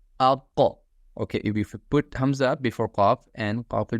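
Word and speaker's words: ء: So from your lower throat, from here, okay? From here. So you pronounce these 2 letters, hamza and ha.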